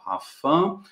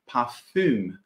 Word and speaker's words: Parfum: a gente pode falar pafan como se fosse no francês mesmo inclusive com essa pronúncia do francês ou a gente pode falar da maneira alemã mesmo que é parfum já vou mostrar para